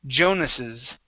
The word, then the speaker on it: Jonas's: We have to pronounce this like there is an S there. Okay, so we say Jonas's.